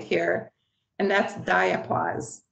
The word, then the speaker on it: diapause: you a new term right here and that's diapause it's spelled d-i-a-paws diapause most of the monarchs that